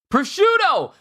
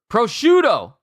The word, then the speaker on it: prosciutto: it here we go prosciutto I've been saying it wrong this whole time it's so simple it's three syllables I thought it was a fancy word prosciutto prosciutto it's just called prosciutto